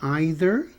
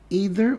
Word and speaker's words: either: Aqui é mais comum na Inglaterra você dizer either ou neither. Neither quer dizer nenhum nem outro, ou um ou outro. Mas nos Estados Unidos eles falam either ou either, tanto faz.